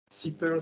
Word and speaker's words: SiPearl: for the introduction so about how to pronounce super stands for silicon pearl you know from the